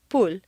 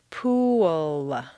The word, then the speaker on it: pool: Pool looks like a nice 1-syllable word, but if you say it this way, at best it will sound like pool, and at worst it will be unintelligible to your listener. For clear comprehension, you need to say 3 syllables, pool.